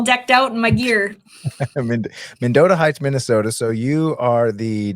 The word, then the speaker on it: Mendota Heights: And so make sure I'm pronouncing this right. It's Modota Heights. Am I saying that right? Yep. You got it. I'm all decked out in my gear. Menota Heights, Minnesota.